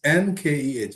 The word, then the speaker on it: Nkeh: Oh, middle name is Nkeh. Nke. It's pronounced K. That's my middle name. Yeah. Nkeh, K-E-H, yes. Okay. and it's pronounced Nk. Okay.